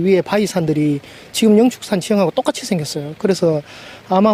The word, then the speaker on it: 영축산: 축산과 치솟아 를 혼용한 영취산 으로 불리기도 했습니다 그러다 2001년 양 4g 지명이 원해서 독수리 진짜를 불교식 이 발음인 축 으로 표기 하면서 영축산 으로 통일을 한 겁니다 원래 이사는 영치 산